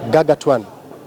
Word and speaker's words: gargantuan: But this one is a basic word, Betty, and we say gargantuan.